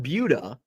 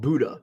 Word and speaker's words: Buda: Now, I call it Buda, and I think that's the correct pronunciation. Some people call it Buddha. It's like, no, there's no H. Buda, which is, I haven't